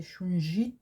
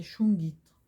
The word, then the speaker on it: shungite: ide oui je sais en français ça pourrait se prononcer shunji mais c'est chou guîtres voilà ça a été